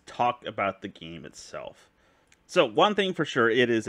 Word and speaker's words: Sun: anticipating it to play sun wukan or is it soon sorry I said Sun they they pronounced his name soon in the game so we're going to use soon everyone else keeps calling